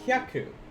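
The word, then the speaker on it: 百: It's hya versus haya. If you said hayaku, that's actually a different word. That means quickly or hurry up. Whereas hyaku is 100.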